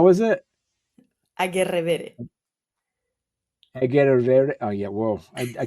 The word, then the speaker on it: Agerrevere: No, Agerrevere. In Spanish is an E sound at the end.